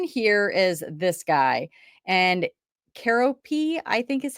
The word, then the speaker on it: Keroppi: And Keroppi, I think is how you say it. It's Keroppi, and we've seen this one before.